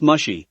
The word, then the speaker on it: Mushi: It's pronounced mushy, Iroh corrected her.